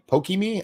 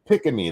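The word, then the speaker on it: Pikamee: Pickamee? Pickamee, that's how you say it.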